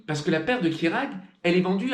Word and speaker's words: Kjerag: Quant au nom de la pompe, qui est tout aussi étrange que le nom de la marque, qui s'orthographie Kejrag mais se prononce Kirag, il fait référence à